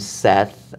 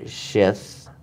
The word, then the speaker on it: Seth: He has a son named Seth, or Shith, mm-hmm. depending on how you pronounce it.